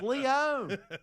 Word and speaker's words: Lyon: Like, it's Lyon. It's Lyon. He mispronounced stuff every day because he was too arrogant to go around the newsroom and ask, "How do you pronounce this?"